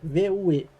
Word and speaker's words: Vue: É porque assim, se escreve V-U-E, né? Mas o pessoal gosta de pronunciar como Vue.